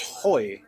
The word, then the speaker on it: Hoey: It's Hoey. Hoey. It's spelled like hoe with a Y, unfortunately. Okay. Yeah. Or the word for today, which is hoy in Spanish.